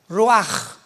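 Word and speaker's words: רוּחַ: Apunta la palabra espíritu en el hebreo es como suena roach. Raúl u a c h. Pero la ch en el hebreo se pronuncia como j. Roaj.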